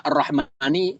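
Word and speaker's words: الرَّحْمٰنِ: Mimnya ada alif gak? Gak ada. Mim sama nun nyambung ya. Arrahmani. N ini juga berkaitan dengan ilmu ilmu tapi dalam membacanya gak boleh kita baca arrahmani. Harus panjang mimnya.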